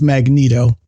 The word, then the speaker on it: Magneto: control over magnetism uh apparently the official pronunciation is Magneto I think that just